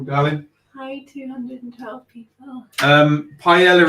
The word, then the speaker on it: paella: hi 212 people um paella is pronounced paella people don't say marbella okay polish thanks apologies